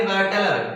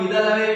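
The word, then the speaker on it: whittle away: Pronunciation वैसे correct pronunciation तो इसका है विदल अवे। ठीक है, कुछ लोग वाइटल अवे बोल रहे हैं लेकिन कोई दिक्कत नहीं है, दोनों आप बोल सकते हैं।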